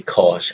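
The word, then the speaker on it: cosh: Then we have cos, just simply cos as the pronunciation.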